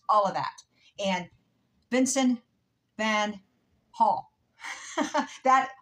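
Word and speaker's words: Van Gogh: of that and Vincent Van Hall that Hof not golf Hof Vincent Van Hall that is the way the Dutch pronounced his name now I know Vincent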